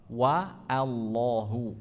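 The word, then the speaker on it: وَاللّٰهُ: ingat membacaul jalalah Allah itu bukan Allah ng bukan wallahu bukan wallahu tapi wa Allahu wallahu ya wallahu ya kita orang Jawa agak susah ya biasanya sudah terbiasa Oh ya Allah gitu ya membacanya wallah ituu wallah bukan wallah enggak ada woh adanya wallahu Wa Ya Wa Wa kalau membaca huruf ww itu bibir kita terhimpun ke depan wa ya bukan wa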